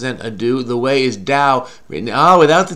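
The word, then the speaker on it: 道: The way is dao. Written, without the T. In Chinese pinyin is a D, because it's pronounced dao, right?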